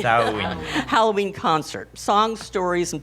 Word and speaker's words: Samhain: They're presenting how do you pronounce Samhain. it? Samhain. Samhain.